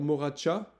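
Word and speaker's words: Morača: Voilà, vous pouvez aller explorer peut-être la rivière Moracha, hein, ça s'écrit Moraca, M-O-R-A-C-A, la rivière Lim, qui est fameuse, et la Tara à voir.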